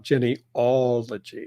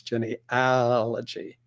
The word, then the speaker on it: genealogy: how to spell genealogy it's spelled with an a it is not Jenny ology it's Jenny allergy so that's something I